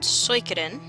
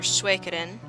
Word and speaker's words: Suikoden: called Suikoden, or Suikoden, however you feel like pronouncing it. Give it an English accent, or, well, by English I mean American, or give it a more appropriate Suikoden sort of lilt if you want to be more accurate to the Japanese pronunciation of the word.